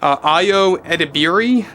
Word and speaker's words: Ayo Edebiri: that's going to star Ayo Edebiri, I believe is how you pronounce the actress's name.